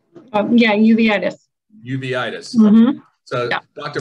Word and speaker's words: uveitis: Berkenstock, how do you pronounce that word? Uveitis? Uveitis.